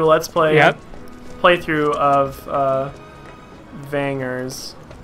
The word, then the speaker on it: Vangers: I wanted to do a Let's Play playthrough of Vangers. I grew up calling it Vangers, so with the soft G.